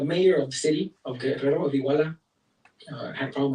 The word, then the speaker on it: Guerrero: Guerrero. I'm one of the few güeros that can pronounce the double R in Spanish.